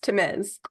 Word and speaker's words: Tamez: Yes, Tamez.